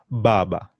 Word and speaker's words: baba: It's a soft sound in English, but in Kiswahili, the B, D, G, J, they have a bit of emphasis on them. For example, the word father, you say baba.